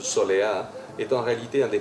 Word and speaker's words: Soleá: Cantao por Solea. La Soleá est dans sa prononciation andalouse, Soleá, est en réalité un